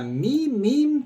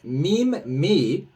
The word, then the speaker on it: MEMEME: going over the uh me meme token uh you could pronounce it meme me or me meme or me me me however you want to pronounce it I don't care but